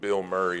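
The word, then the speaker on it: Bilmuri: No, there's a there's a band called Bill Murray, but it's spelled B I L M M U R I.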